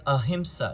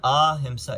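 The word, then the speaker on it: ahiṃsā: It's not asana because it's not the short If it were like the word ahimsa, it is the short. That's why it's ahimsa. It's not ahimsa, it's ahimsa. Ahimsa meaning not harm, non-harm.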